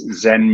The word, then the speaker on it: Zhen: So that's Zen Meat, ZHEN or ZHEN Meats.